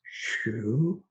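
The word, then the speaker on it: 嘘: water generates liver wood liver sound is shu and it's written x u in pinyin so um and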